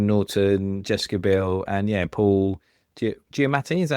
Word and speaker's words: Giamatti: Like the Prestige, Hugh Jackman, Christian Bale, and then the Illusionist, Edward Norton, Jessica Biel, and Paul Giamatti.